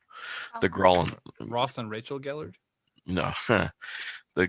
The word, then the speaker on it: Gralhund: You do know that the couple that owns the place, the Gullards, I just pronounced that completely fucking wrong. The Gralhund.